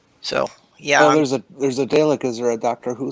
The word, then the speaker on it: Dalek: I see one L and I pronounce it Dalek, but that's just... English is so inconsistent. If you've ever watched the show, you know it's Dalek.